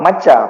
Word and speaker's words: Macca: udah baca juga program warung makan Mark atau maka Dimas kita bacanya Mas warung maca pakai C macam aa oke nah boleh